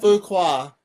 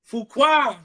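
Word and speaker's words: Fuqua: Fukuqua. Fua.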